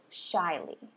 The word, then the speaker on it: shyly: did well shyly and if you look at the pronunciation column that does not look like how shyly you spelt does it know we have Shh I with a long eye that straight line across the china-us it's a